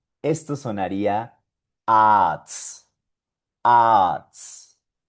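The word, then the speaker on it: Arzt: Esto sonaría arts.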